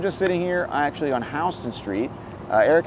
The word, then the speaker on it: Houston: Street which actually got its name from William Houston that's why it's pronounced Houston by the way uh you know